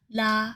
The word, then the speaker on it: 喇: Let’s move onto another commonly used final particle in Cantonese: 喇 , or it can also be pronounced 嘞 .